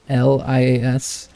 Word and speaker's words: Aurelius: But when I made Aurelius, my tank guy, it's Oralias. So there's oral with the first 4 letters.